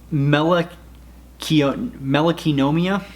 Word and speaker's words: Melanonychia: So the next disorder is going to be called Melek Kiya. And notice that Chia, or the NYCHIA, that is usually referring to nail. Melek Kiya, the Kiya, that's how you say it.